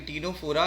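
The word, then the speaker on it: Ctenophora: टी का मतलब बच्चों टीनोफोरा हो गया, क्योंकि टीनोफोरा ऐसे ही बोलते हैं। और सी साइलेंट होता है बच्चों।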